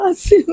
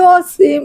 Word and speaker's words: আসিম: দেখতেছি ফেসবুকে বিভিন্ন চ্যানেলে আমার ছেলের নাম হচ্ছে আসিম জাওয়াল আমার বাবার নামটা আমি রাখছিলাম সবাই বলে অসীম অসীম এগুলো সবাই মিডিয়াতে বলতেছে অসীম অসীম আমার বাবার নাম তো আমি আসিম জাওয়াদ রাখছি না আমি